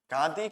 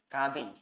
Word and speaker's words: गांधी: गांधी हमेशा क्या बोलते हैं? गांधी बोलते हैं। आपने बहुत जगह सुना होगा गांधी गांधी। गांधी जो है गलत उच्चारण है, इसका सही उच्चारण हो जाएगा गांधी।